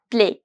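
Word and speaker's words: plaît: Vu play play play the pronunciation of AI is very close to E A that is a play my T is going to be silent s Sil Sil which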